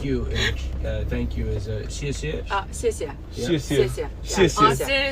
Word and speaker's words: 谢谢: Thank you is a 谢谢.